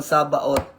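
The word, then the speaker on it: Sabaoth: No, tatandaan natin saba ot. Medyo yung pronunciation ninyo is OT. Yung pinakadulo. So ito po ay ikalimang pangalan ng prosperity name of God.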